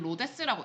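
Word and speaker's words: Rhodes: 히파르쿠씨가 알렉산드리아랑 로즈 지방에서이 사람이 일을 했고요. 어 그 나중에 나오는 도시요. 로즈 지방에는 이거 원래 로즈라고 읽는게 맞는데 옛날에는 로데스라고 읽었을 수도 있어요. 지금은 그냥 로즈라고 읽습니다.이 사람이 첫문학적인 연구를 만들어 냈네.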